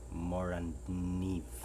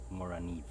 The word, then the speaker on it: Morakniv: Morakniv. Choose what you want or how you would want to pronounce it, but I think all of them would be correct. Morakniv. Moraniv.